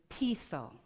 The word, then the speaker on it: peitho: Now, when I look for where did this word originate from, it comes from the Greek word peitho. Peitho, it's spelled P-E-I-T-H-O, which means to persuade.